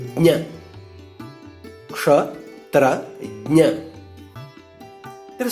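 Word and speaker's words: ज्ञ: Jna is a combination of J and Nya. So it should be pronounced like J first, then Nya. Jna.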